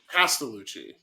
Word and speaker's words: Castellucci: I cannot pronounce Italian last names, but I do really admire the Castellucci. Castellucci.